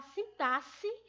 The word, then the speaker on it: sintaxe: Diferente da morfologia, que a gente estuda a palavra única em seu local único, já a sintaxe, ela estuda a estrutura da gramática, a estrutura das palavras dentro de uma estrutura frasal, certo?